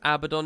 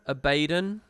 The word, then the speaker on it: Abaddon: Apparently the way they pronounce Abaddon is wrong. It's Abaddon.